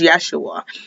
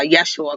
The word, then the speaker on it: Yeshua: name is yeshua um the letter j and its pronunciation didn't even exist at the time so that's why uh yeshua closer to jesus or not not jesus yeshua is closer to joshua really than it is to jesus but teach their